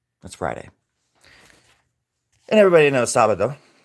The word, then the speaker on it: sábado: And everybody knows sábado. But the B in Espanol is pronounced more as a V. So sábado.